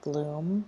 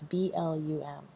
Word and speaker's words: Blum: There is a guy, Ralph Bloom, or Blum, I don't know how do you say his name. It's Blum.